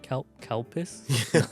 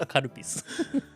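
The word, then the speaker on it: カルピス: When you say it in English, kalpis. A lot of my foreign friends kept on saying that, like, oh, this, what? How do you say this word? Karupis. Wait, what? Kalpis? No, karupis.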